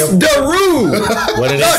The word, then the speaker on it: Daru: Daru. What did I say? Daru. That same people power out Daru. There. Some people say really? Yeah. Man, I'm never out of here. It's Daru.